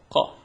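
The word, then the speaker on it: ق: So for the Qa, how would you pronounce the Qa? The difference is the Ka is really a light K sound that comes from the top of your mouth, whereas for the Qa, it's a deep throat, sudden sound.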